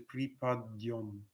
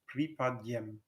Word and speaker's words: припадем: In modern Russian, this word is pripadyom, but in Church Slavonic, it's pronounced pripadyem.